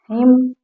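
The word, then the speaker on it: hymn: स्तंभ डैम हिम तो यहां पर एम साइलें एम साइलेंट है इसे डैम हिम ऐसा पढ़ा जाएगा ठीक है अब देखते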